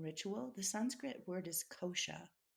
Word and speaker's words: kosha: of ceremony and ritual the sanskrit word is kosha kosha how do you spell that k-o-s-h-a okay and what it means is